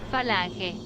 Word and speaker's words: Falange: according to this computer voice, it's phalanx, and yet if you say it in Spanish, it would be Falange. Falange, which is not phalange, as you can see, so I seriously